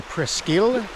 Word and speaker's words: Presqu'ile: to say that so no it's actually presil or as Siri would pronounce it pcll so here we are